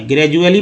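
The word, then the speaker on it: gradually: अब देखिए जी आर ए डी यू A double L वाई, ग्रेजुअली मैंने लिखा है। अगर डी से द उच्चारण होता तो ग्रेजुअली उच्चारण होता है, लेकिन ज उच्चारण होता है ग्रेजुअली, डी को ज उच्चारण किया गया ग्रेजुअली।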